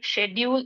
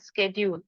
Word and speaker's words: schedule: are equally fine okay schedule and schedule both are equally fine it says that you